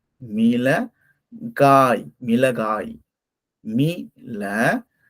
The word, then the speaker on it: மிளகாய்: மீள, காய். மீள, காய். மிளகாய். மீள, கா, ஈ. மிளகாய். மிளகாய். இது மிளகாய். நம்ம பொதுவா வந்து வழக்கு சொல்ல மொளகான்னு நம்ம சொல்லுவோம்ல. இது வந்து நம்ம மிளகாய்ன்னு தான் நம்ம சொல்லணும்.